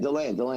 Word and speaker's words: DeLand: Deland.